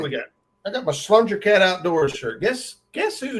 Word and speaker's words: slunger: I got my Slunger Cat Outdoors shirt. Guess who named Slunger Cat Outdoors?